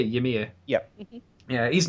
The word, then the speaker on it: Ymir: Ymir?